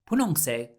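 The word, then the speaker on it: 분홍색: it because it's hungry bun hungry sounds similar to pun hong and the bun is pink so punongse means ping and now let's do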